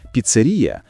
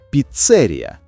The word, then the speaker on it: піцерія: На який склад падає наголос у цьому слові? Піцерія. Хоч у розмовній мові часто кажуть піцерія, проте нормативна літературна вимова- піцерія.